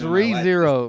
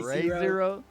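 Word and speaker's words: Re:Zero: zero because i got it's re-zero bro you gotta pronounce it right god damn you say zero i've read that with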